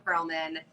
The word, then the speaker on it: Perolman: But I've always just said Perolman because I think it sounds better with the syllables. But anyway, I'm Perolman.